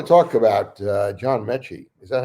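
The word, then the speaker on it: Metchie: Actually, you know, I wanted to talk about uh John Mechy. Is that how it's pronounced? That is John Mechy the third.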